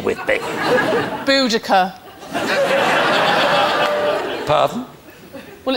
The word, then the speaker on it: Boudica: Well, look, Miranda, I know we're getting to the end of the show, but there's no need to go all Queen Boadicea with me. Boudica.